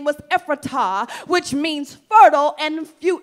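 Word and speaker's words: Ephrathah: naomi was from bethlehem and the way you pronounce this is ephrata okay that's the way you pronounce it that's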